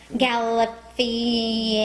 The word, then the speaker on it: Galifianakis: Winfrey, Reese Witherspoon, and Zach I've heard it pronounced Zach. Zach Galifianakis. Galifianakis.